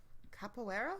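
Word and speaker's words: Caipora: capibarus do you mean no it's c-a-i-p-o-r-a yeah it sounds like capoeira yeah that's how i've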